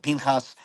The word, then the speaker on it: Pinchas: and now it's and as per the Masoretic pointing, it's pronounced Pinchas.